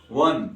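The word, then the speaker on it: one: बोलते हैं क्या नहीं न टूथ बोलते हैं वन और व क्या आता है ध्यान से देखोगे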